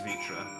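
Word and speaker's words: Vrtra: I'm pretty sure you did, but the pronunciation is correct. It is Vitra.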